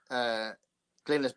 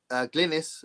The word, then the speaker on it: Glynis: Glynis is Glynis. It's a Welsh name.